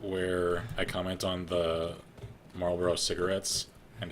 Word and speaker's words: Marlboro: Like, when the episode comes out where I comment on the Marlboro cigarettes and accidentally mispronounce it Malboro, like the friggin' Final Fantasy monster, because I wasn't thinking